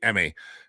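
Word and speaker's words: Aime: And just know that there's a lot of kids like Emmy. That's how you pronounce that name, A-I-M-E, Emmy.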